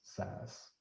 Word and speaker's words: SAS: You see it, as JMP, but it's just pronounced JUMP, and SAS is actually just pronounced SAS.